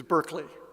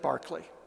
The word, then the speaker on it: Berkeley: Unfortunately, this is an example, very common in England, of Englishmen not knowing how to pronounce their own surnames. It's Berkeley, but he said Berkeley.